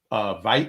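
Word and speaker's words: Tveit: Audria McDonald, Kelly O'Hara, Aaron Veit, I guess, because I guess the T is silent, Andrea Martin, Leah Michelle, and Miles Frost.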